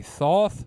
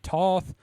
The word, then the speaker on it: Thoth: Some say Thoth, some say Toth. Uh I watched a thing with an expert on uh Egyptian mythology and he pronounced it tote.